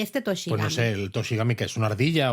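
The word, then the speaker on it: 年神: raro no pues bueno toshi al final se escribe el primer kanji el de año el segundo el de deidad con lo cual tochigi es básicamente el Dios del año que se lee Gami precisamente porque tiene una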